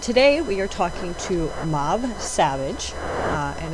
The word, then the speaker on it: Mabh: Raven Wings and today we are talking to Mau Savage. Uh and it's spelled M A BH Savage if you go to look her up on Facebook or anywhere. Um, it's just pronounced mauv.